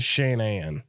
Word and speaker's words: Shanann: it yeah first off the lady's name is shanann she and anne yeah so her parents